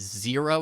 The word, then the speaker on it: Xero: we have zero so zero i know it's it sounds like z-e-r-o but it's actually spelled x-e-r-o so it's x-e-r-o is zero it's pronounced zero even though it's like xero you know don't ask